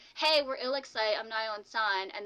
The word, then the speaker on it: ILLIXCITE: It is illicit and excitement. So the illit and then sight of ILLIXCITE.